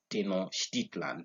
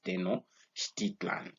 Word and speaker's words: Tenochtitlan: Tenochtitlan, that's how I pronounce it. So that was his pyramid. It was found at a place known as Tenochtitlan.